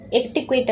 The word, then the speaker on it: etiquette: ஒரு முக்கியமான ஒகேஷனுக்கு போகிறதுக்கு நம்ம ஒரு டிக்கெட் எடுப்போம் இல்லையா, அதை தான் எட்டிக்வேட் அப்படின்னு சொல்லுவாங்க. இங்கிலீஷ் ஃப்ரெஞ்ச் ரெண்டுலேயுமே இப்படி தான் ப்ரொனவுன்ஸ் பண்ணணும். இதுக்கு இங்கிலீஷில் ஆக்சுவல் மீனிங் என்ன அப்படின்னா, ஒரு பர்சன் பர்டிகுலர் பிளேஸில் டீசெண்டாக டிசிப்ளினாக பிஹேவ் பண்ணுறது தான் எட்டிக்வேட் அப்படின்னு சொல்கிறோம்.